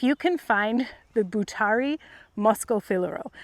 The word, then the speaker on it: Moschofilero: can find the Butari Moscofilero, it's spelled Moschofilero, Moscofilero.